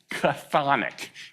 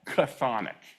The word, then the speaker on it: chthonic: It's chthonic. Can you say that? Chthonic. Chthonic.